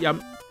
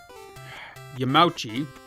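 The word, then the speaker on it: Yamauchi: reached out to his father-in-law Nintendo president Hiroshi yum yamachi there we go asking for a more accessible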